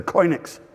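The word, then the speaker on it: choinix: four living creatures saying how do you say that word? It's a koinix.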